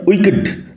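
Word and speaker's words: wicked: man's mind ডবলিউই সিডি উচ্চারণ লক্ষ্য কর উইকেড কি উচ্চারণ হবে উকেড দুষ্ট অশুভ পাপী গুসিত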